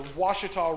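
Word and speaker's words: Ouachita: other side of the Washita River which is not spelled with the W o u achi tah named after the Washita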